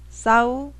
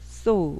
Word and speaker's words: saw: 스는 알겠는데 A하고 W가 왜 오지? 사우? 아닌가? 아니에요. 이 A하고 W가 보통 O 발음이 나요. saw, O.